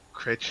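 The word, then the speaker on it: crèche: In Jamaica they call it a creech. But I know that's a word it's properly pronounced as creche or something like that. It's French.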